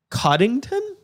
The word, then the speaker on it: Cottington: together but I'm sitting here today with Brian Cottington you got it I pronounce that you pronounced it perfect thank you